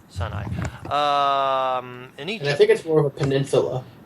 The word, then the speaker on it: Sinai: the province of Sinai a sign I is that it is pronounced yeah son I um any tickets for